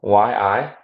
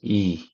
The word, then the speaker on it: Yi: I'm gonna have to share a little story here because my last name, YI, is actually pronounced E. So it's E. But YI is like Yi or Yai to most people who don't know.